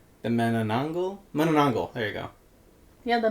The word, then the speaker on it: manananggal: The menangul. Can I read it? Yeah, that that is exactly how it's spelled. The manangle. Manangongal.